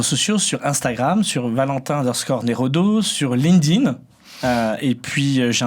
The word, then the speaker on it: Neraudeau: remarque voilà donc et Valentin comme ça se prononce donc Valentin nerodo en un seul motf exactement et vous avez